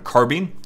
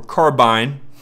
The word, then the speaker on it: carbine: The M4, main differences, has a shorter barrel, comes in at 14.5 inches, which makes this weapon a carbine or carbine. Both pronunciations are perfectly acceptable, guys.